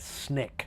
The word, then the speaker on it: SNCC: Student Nonviolent Coordinating Committee known as snick SNCC that's how you pronounce its Nick facilitated sit-ins throughout the